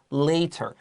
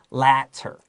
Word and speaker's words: latter: Number one, latter, a lot of people think it's later. 这样子错了。Now, 为什么 later, L-A-T-E-R, 晚一点的话，这个是 A, 然后有一个字母，然后 E, 所以这个 E 会让这个 A 变成长 A, right? Later. But 这个有两个 T, 所以你应该不可以用这个 A 字母 E 的那个发音。This is latter.